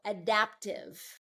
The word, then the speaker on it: adaptive: So adaptive. So second syllable stress on this one.